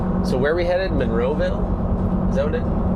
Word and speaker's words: Monroeville: It's Monroeville. Monroeville. Vol. I don't know how they get Vol out of Ville. It's south of Monroeville, called Excel.